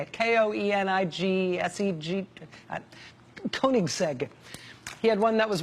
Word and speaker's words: Koenigsegg: the world including some Swedish thing called the Koenigsegg I think that's how you say it k-o-e-n-i-g-s-e-g Koenigsegg he had one that was one of only